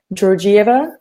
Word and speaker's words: Georgieva: It's meant to be pronounced Georgieva in the English version of it.